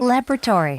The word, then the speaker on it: laboratory: laboratory, laboratory 액센트가 laboratory, le에 가는 건데 영국 발음일 때는 Laboratory. laboratory라고 해서 액센트가 옮겨가는 거예요.